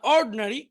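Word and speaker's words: ordinary: আবার দেখি, অ্যাটেন্টিভ মনোযোগী, ইনঅ্যাটেন্টিভ অমনোযোগী, ইন্ডাস্ট্রিয়াস পরিশ্রমী, আইডল অলস, এডুকেটেড শিক্ষিত, ইগনোরেন্ট অশিক্ষিত, ইন্টেলিজেন্ট বুদ্ধিমান, অর্ড এখানে আইটা উচ্চারণ হবে না, অর্ডিনারি সাধারণ।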